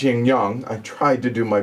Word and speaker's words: Yin Yang: game young young was if you're an americanized yin yang but it's young young I tried to do